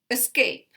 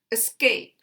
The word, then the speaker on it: escape: Escape, escape. And you can hear the schwa here. Escape.